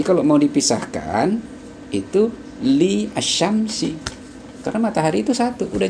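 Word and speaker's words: الشمس: Contoh lainnya bisa kita ambil seperti Al-Sams yang dibaca Asyam. Itu membacanya Asyamnya langsung, karena jelas matahari itu satu.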